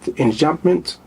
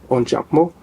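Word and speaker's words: enjambement: he used unjo uh English they pronounce it inment it's a French word on jumo in English it's called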